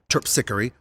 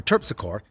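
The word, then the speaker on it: Terpsichore: on the parade route like mel palmini or melba mean calliope or calliope or chirp sickery or terpsichor it's new orleans you can pronounce them any way you want well this parade is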